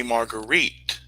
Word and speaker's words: Margaret: well if they're proper they call me margarite the correct pronunciation of the name darling if uh if